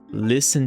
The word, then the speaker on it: listen: rápida aqui é que, embora a palavra tenha T nela no meio, a gente não pronuncia o T, é um T mudo.